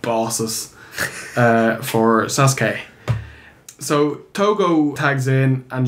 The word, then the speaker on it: Sasuke: Sasuke. Yeah. Is that actually what it is? Oh, Styles pronounces it wrong.